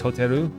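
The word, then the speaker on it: ホテル: I say hotel, but they don't really have the L sound in Japan. So for me, it's hotel. For them, it's hoteru. So kind of the same word, but they have 3 syllables for it, whereas we only have 2.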